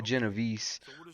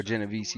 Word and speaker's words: Genovese: And the story of the Genovese, or Genovese, depending on how you want to pronounce it, it starts in 1894